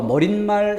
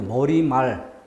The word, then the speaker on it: 머리말: 다는 내내 생기지 않습니다 머리와 말이 만날 땐 이 흘러 머릿말 이라 발음하면 틀리고 머리말 인상 말 틀리고 인사